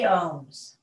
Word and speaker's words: om: in and out breath the first syllable is the ah sound so these sounds is a-u-m even though it comes out as o-m and it starts at